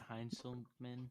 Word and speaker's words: Heinzelman: Josh Heinzelman.